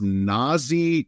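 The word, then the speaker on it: Nazeeh: Listen, Dirk, let's just start with it's Nazi Johnson, not Nazi Germany. Nazi Johnson, not Nazi Germany. Okay. Great anti-Nazi. I like it. Yes. I was thinking about some, I think we call these faux means. I can't remember some of my collegiate learning, but I was thinking about Fozzie Bear from the Muppets. Fozzie. All right. It's the same sound, right? So when you think of Nazi, you can think of Fozzie, right?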